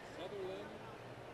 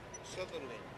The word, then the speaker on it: Sutherlin: Sutherlin.